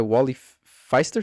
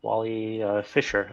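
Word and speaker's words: Wally Pfister: This is shot by Wally Feister. Fister? Is it Feister or This is Fister? his first time working with Wally Fisher, I think it's pronounced.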